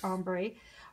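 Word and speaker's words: ombré: I think it's called ombre, pronounced ombre ribbon.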